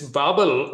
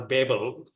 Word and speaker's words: Babel: For this, at this instance, the Tower of Babel, this Babel or Babel, we have different pronunciations.